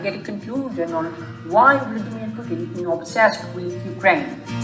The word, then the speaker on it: Vladimir: In Russian, the name is pronounced Vladimir and Ukrainian Volodymyr.